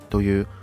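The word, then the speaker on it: 泡椒: The fermented chili we're using is called ''paojiao'' (''pao-chiyao'' for pronunciation).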